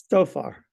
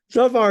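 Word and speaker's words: Zophar: So far. It's actually a TS at the beginning.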